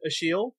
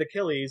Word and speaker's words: Achilles: the shadow series um there's a character named a sheal uh his name is spelled it looks like Achilles but it's pronounced